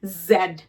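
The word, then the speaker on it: Z: last বাসিন্দার নাম হচ্ছে জি জি জি জি অথবা জেড জড একটি বাজিং সাউন্ড হবে মিস্টার বি যেরকম সাউন্ড করে অথবা আমাদের অতিথি মিস্টার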